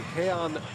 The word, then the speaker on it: Jean: So Bochy goes back to his bullpen, and it's going to be Heian Machi, who prefers the traditional Venezuelan pronunciation of his name.